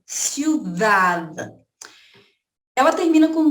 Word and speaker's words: ciudad: Vamos lá, ciudad termina com D mudo. Aí eu quero chamar, gente, aqui, ó, ciudad.